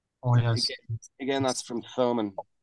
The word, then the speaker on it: Thomann: and it's a German company called oh, yeah, Thomann.